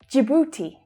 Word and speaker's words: Djibouti: Djibouti. That's the J as in jam consonant sound, and the oo as in food vowel sound.